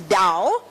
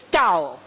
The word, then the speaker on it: Tao: It's not written it's pronounced as Dao but it is a T. The T is not pronounced as Tao. It's pronounced as Dao.